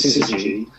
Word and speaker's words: Syzygy: That was Syzygy. And that's how you pronounce it. Yeah, I know, it's a tricky one. And so we did the Syzygy remix, and then before long I've got 4 mixes.